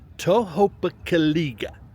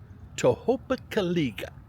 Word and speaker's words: Tohopekaliga: Tohopekaliga, that's a hard word to say. Now, okay. If you know anything about phonics, the word is pronounced Tohopekaliga. Tohopekaliga.